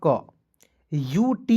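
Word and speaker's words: cute: सी का आधा क यू टी ई है ना जी अंतिम में तो यू टी ई का उच्चारण यूट के रूप में करेंगे।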